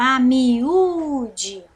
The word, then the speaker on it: amiúde: a me dê certo então nós temos aqui quatro sílabas e a penúltima é a mais forte então no caso é paroxítona tudo bem ficou bem